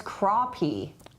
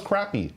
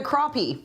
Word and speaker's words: crappie: get that fish oh rfj says pronounce crappie crappy really yes yes and we've confirmed wow it's a black crappie I always thought it was crappy now now look at